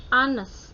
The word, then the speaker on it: honest: Ini walaupun H, H, bacanya bukan H atau H, tetapi kalau ini kan artinya jujur ya ya. Honest, bacanya itu A seperti A sama E. Honest, bukan honest ya. Salah. Jadi bacanya honest.